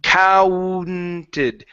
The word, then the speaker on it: counted: So, give me that N sound here. Counted.